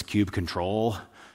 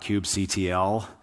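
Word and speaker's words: kubectl: be the cube cuddle now depending on who you ask this is pronounced different ways i've had some people insist to me no no it's cube control others say well i always spell it out cube ctl some people are fight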